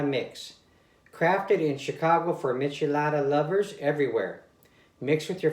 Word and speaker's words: michelada: this time I mean I'm always calling a Mishi Mishi Lada not michelada you guys can't believe